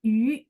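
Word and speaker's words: 鱼: Nah, yu itu dia sama bunyinya dengan yu. Makanya kalau belajar bahasa Mandarin, oh iya, yu ikan sama ini bacanya sama ya.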